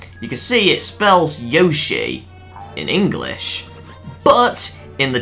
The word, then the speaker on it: Yoshi: it the same so despite it saying Yosi you still actually say it as Yoshi so so it's pretty